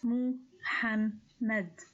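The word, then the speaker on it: محمد: The third one starts with the moved meme with the fatha and ends with the dal which has sukun. So this name is pronounced as Muhammad. Muhammad.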